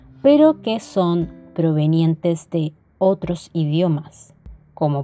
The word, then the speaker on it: queso: pelota q queso tequila sólo se utiliza cuando existe el dígrafo con y más acompañado de una e iu y el sonido será sin embargo no vamos a pronunciar la uv es decir sonará tal cual queso tequila r ratón rojo en